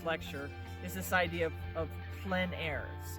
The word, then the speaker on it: plein air: But the thing about what we're going to be focusing on in this lecture is this idea of plein air. It's spelled P-L-E-I-N-A-I-R-E.